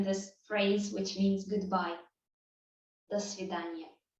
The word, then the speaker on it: свидания: Notice also that in the writing, in the spelling, we have свидания, but in speech it becomes свидания. Again, to make it a bit easier to pronounce, до свидания. Instead of ния, I would usually say ния. До свидания.